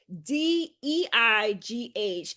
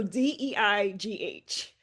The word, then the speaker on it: Deigh: Yes, so the last name is spelled D E I G H. Um, as my husband would say like sleigh but with a D.